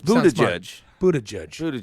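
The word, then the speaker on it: Buttigieg: it's blue the judge Buddha judge no it's not right that is not how it was originally pronounced he just decided he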